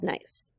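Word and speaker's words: gneiss: famous rocks nice morton nice pronounced nice as among the oldest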